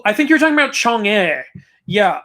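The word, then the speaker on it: 嫦娥: Oh, I think you're talking about Chang'e. Yeah, Chang'e it's spelled really weird.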